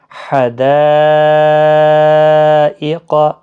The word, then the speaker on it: حدائق: الف جب خالی ہے تو پچھلے حرف کے اوپر زبر ہے، الف مدہ ہے، اس کے بعد حمزہ ہے، تو مد متصل لگی ہے۔ تو کیسے پڑھا جائے گا؟ حدائق، حدائق، یہاں پر میں